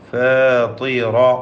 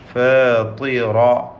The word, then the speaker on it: فاطر: ഫാത്തിറ എന്ന താഇന് കുറഞ്ഞ തഫ്ഖീമാണ്, കസ്റായതുകൊണ്ട്. ഫാത്തിറ. റാഇന് തഫ്ഖീം പൂർണ്ണമായി നൽകണം, തടിപ്പിച്ചോദണം. ഫാത്തിറ അസ്സമാവാതി.